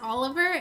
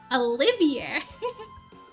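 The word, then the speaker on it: Olivier: Yeah, when I first saw his name, I thought it was pronounced Oliver, and they were like, there's an I in there. And I was like, oh, Olivia. So I like how other people pronounce his name.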